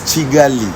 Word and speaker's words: Kigali: Kigali, guys, it's Kigali. Because in Rwanda, K is if it's K with an A. With an A, it depends on the vowel. Yeah. If it's K-I, it's like it's pronounced with CH.